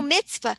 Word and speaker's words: mitzvah: have uh mata hands is that how you pronounce it mata ham oh mitzvah it is it's about using our hands and